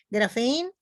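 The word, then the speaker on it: graphein: significa libro y grafen la p se pronuncia como F grafen que quiere decir descripción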